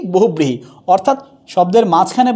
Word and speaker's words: বহুব্রীহি: তাহলে বো হুব ব্রি হি, উচ্চারণটা কি হবে, বো হুব ব্রি হি, উচ্চারণটা হয়ে যাচ্ছে কি বহুব্রীহি।